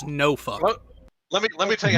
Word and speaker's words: Norfolk: It's no fuck.